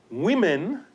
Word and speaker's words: women: The word women, plural of woman, is pronounced as women in order to distinguish it from its singular form. If we were to pronounce it as it is written, there would be no difference between the plural and the singular. They would both just simply sound like woman, all right? So we change the sound of the vowel in the first syllable in order to make it more understandable.